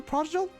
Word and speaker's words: prodigal: Oh, it is pronounced with a hard G.